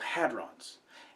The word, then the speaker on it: hadron: class of particles called hadrons, and I'm going to keep saying hadrons from now on because it's easier than saying protons and neutrons all the time. It is pronounced hadron, not hadron or never mind.